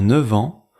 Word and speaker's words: neuf ans: Et dans neuf ans, le f devient v.